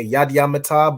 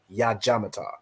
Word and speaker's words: Yad Yamata: 1 second, like you'll hear Yad Yamata, but the way you hear it just being said, you'll just pick it up as Yad Jamata. But if you actually know how it's spelled, you'll know, okay, so it's Yad Yam, which means hands, and then Mata, which means down, right?